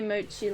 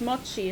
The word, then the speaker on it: Mochi: like m chai CH remember it's a Japanese treat not a tongue twister Moi not moochi oh mo so it's Mochi not moochi it's going well just